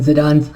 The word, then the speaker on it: Zidane: um whose name is coincidentally spelled like zinedine zidane's last name but it's pronounced zidane he is a protagonist